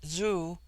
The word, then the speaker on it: zu: On the other hand, z, when an initial, is with them a sound in which the breath is sucked inward, and thus zu, pronounced zoo, which in their language is